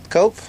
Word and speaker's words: Cope: It's Coop, actually, isn't it? Cope? Okay, so I am pronouncing it correctly.